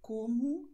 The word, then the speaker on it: como: Und O am Wortende wird als U ausgesprochen. Das heißt, obrigado, como, logo.